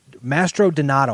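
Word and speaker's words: Mastrodonato: Boston now Jayson mastered I always get his name wrong it's Jason mastered Mastro donato I'm sorry I can't read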